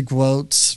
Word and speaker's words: Gwozdz: it's actually pronounced but my family Americanized it to quotes which rhymes with notes so I'll give you